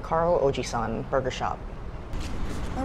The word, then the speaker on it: Carl Og3: So san is the word for 3, so that's how you say it, Carl Ojisan Burger Shop.